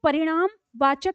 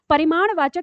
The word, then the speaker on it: परिमाणवाचक: कुछ लोगों ने इसको परिणामवाचक संज्ञा भी कहा है। ठीक है? तो परिमाणवाचक परिणाम नहीं सॉरी मैंने गलत उच्चारण किया। परिमाणवाचक संज्ञा।